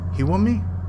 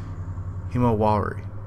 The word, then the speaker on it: Himawari: Hiwami? Is it actually written? No, I was completely wrong. Himawari. There was an extra syllable in there. Figures.